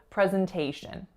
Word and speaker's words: presentation: Our final word is presentation. So 4 syllables. The first one is a lax, e. The second one is a schwa, zn. Then we have our winner, a. And then we have another schwa, shin. Presentation.